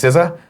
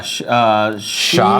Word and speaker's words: SZA: for this one, but I'm going to guess SZA. All Stars. How do you say that? SZA. Yeah. Sha?